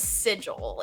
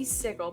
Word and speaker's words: sigil: Like every time I've read it, I always pronounce it that way. But I It's Yeah, it goes I call like sigil is sigil. It should never be sigle, but I the place sigle.